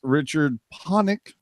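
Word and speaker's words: Richard Pánik: would return after missing 10 games the Coyotes Richard ponic am I saying that right jerk is at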